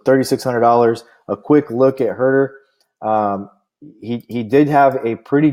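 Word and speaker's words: Huerter: know who he is I'm sorry it's Kevin hurt that's how you pronounce his name Kevin hurt her so Kevin hurt her $3,600 player will plug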